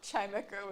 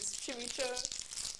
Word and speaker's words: Chimecho: I still cannot believe that the Pokemon Chimecho was pronounced how it is, because I was so adamant that it was Chimicho for so long.